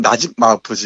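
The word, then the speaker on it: نجيب محفوظ: 네, 정확히는 나집 마우프즈 이렇게 발음하는데요.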